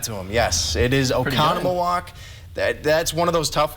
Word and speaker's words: Oconomowoc: How would you go about pronouncing this city in Wisconsin? Oconomowoc. I'd give that to him. Yes, it is Oconomowoc.